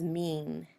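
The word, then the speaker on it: mien: It sounds like the word mean, like we say, she's a mean girl. But you notice that it's spelled a lot differently.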